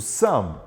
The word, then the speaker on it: some: quantifiers, nós vimos o some. Então, some é um quantifier. Lembrando a pronúncia aqui, você não pronuncia o E. Some.